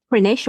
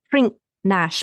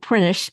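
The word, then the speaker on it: Prinknash: They then travel on towards Gloucester, possibly passing through Prinish, or it's spelt Prink-Nash, but oh yes, I remember that from when we wrote about it. Apparently, it's called Prinish Abbey, which was the country seat of the abbots of Gloucester.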